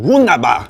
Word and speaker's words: Wunderbar: You gotta say it like the Viking. Wunderbar.